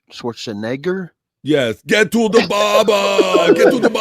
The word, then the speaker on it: Schwarzenegger: He says Schwarzen. I'm gonna say it right. Schwarzenegger.